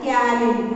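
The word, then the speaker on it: ptyalin: That is called as salivary amylase, otherwise called as taurine. So okay, P is silent there, taurine.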